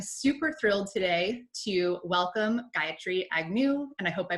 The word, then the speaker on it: Gayatri Agnew: So I am super thrilled today to welcome Gayatri Agnew, and I hope I pronounced that right after I've known you for